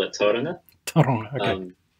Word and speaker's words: Tauranga: We actually call it Tauranga. Tauranga, okay. it's actually a Māori word, and they have their own way of pronouncing things. Rolling the R.